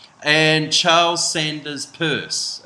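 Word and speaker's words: Peirce: C and Charles Sanders purse it's pronounced Pur it looks like Pierce I'd rather say Pierce because I feel like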